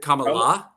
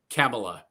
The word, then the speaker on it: Kamala: can can really figure out how to say Kamala or Kamala or camea k La Kamala La Kamala well is it Kamala yep that's k k La Kamala okay but I heard if you say it wrong you're a racist so